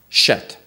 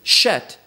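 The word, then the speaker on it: שת: We find in the next phrase, and he called his name Shet. Now, usually Shet is pronounced Seth in Hebrew or in English.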